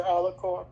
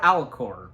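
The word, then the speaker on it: Alucard: with this, like, because I forgot how it's pronounced. His disguised name, Dracula's name, do you remember what it is? Dr. Alicor. Thank you, Dr. Alicor. Yeah. Is that the correct way to say it, Alicor?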